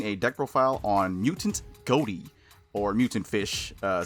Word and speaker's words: Ghoti: deck profile on mutant goatee or mutant fish uh since goatee is technically supposed to be pronounced fish I think at least